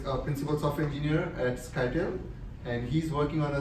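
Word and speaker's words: Scytale: It's called SkyTel. People have called it skittily.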